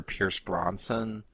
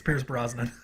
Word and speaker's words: Pierce Brosnan: Tracey's role was meant for Pierce Bronson am I'm mispronouncing his name again yes it's Pierce Brosnan yeah I just have